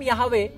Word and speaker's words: Yahweh: That's how Yod He Vah He is pronounced in Hebrew. Okay? He said, I am Yahweh, and that is I am.